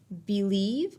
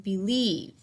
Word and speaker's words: believe: is think about okay where does the accent go do I say believe or do I say believe yes the accent is on the second syllable very good okay we